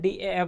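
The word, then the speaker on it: DAF: Fill कर चुके थे, इसको डैफ भी बोलते हैं, डीएएफ भी बोलते हैं, प्रोनाउंसिएशन अपने अनुसार।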